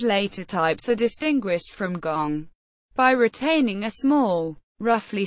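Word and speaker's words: 觥: Gong, not pronounced guang.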